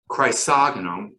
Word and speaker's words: Chrysogonum: Um, is there a scientific name for that plant, and can you spell that for us? Oh, I am not a speller, but it's chrysogonum, which is CHRYSOGNUM is the genus it's in, and that's Virginicus, like Virginica, like Virginia.